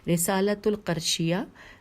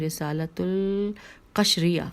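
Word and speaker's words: رسالۃ القشیریہ: حوالہ ہے رسالۃ القرشیہ، دوبارہ سے ہجے کرتی ہوں، رسالۃ القشریہ، جی الف لام قاف شین رے یہ ہے رسالۃ القشریہ جلد نمبر 1 صفحہ نمبر 214.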